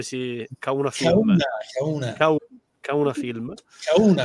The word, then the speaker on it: Kauna: Kauna, accento sulla U, giusto? Kauna. Sì.